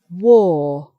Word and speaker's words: war: But then we have war. So it's an or sound.